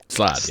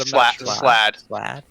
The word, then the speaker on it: Slad: Slod, yeah. Slad or Slod? Slad. I was told it rhymes with glad.